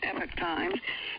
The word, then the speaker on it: Epoch Times: information from uh epitase what do you pronounce it epic time we hear others say Epoch times the dictionary says Epic Times and uh this was